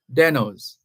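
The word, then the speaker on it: Desnoes: is spelled d s n o s but pronounced denos it's a French name the most famous deno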